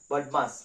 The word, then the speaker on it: BODMAS: তাহলে আমাদের সরলের অঙ্ক করার সময় সর্বপ্রথম কিন্তু একটি সূত্র আছে, BODMAS, বডমাস, যেটার উচ্চারণ, এই সূত্রটি কিন্তু পরিষ্কারভাবে আমাদেরকে বুঝে নিতে হবে।